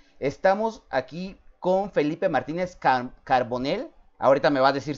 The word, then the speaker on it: Carbonell: Estamos aquí con Felipe Martínez Carbonell. Ahorita me va a decir si lo pronuncié bien, porque la verdad era un nombre, un apellido que nunca habíamos escuchado, de Argentina.